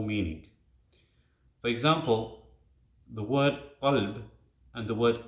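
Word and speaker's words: قلب: For example, the word qalb and the word kalb. It's a very fine difference in pronunciation. But qalb with a big qaf, it means heart, and kalb with a small kaf, it means dog.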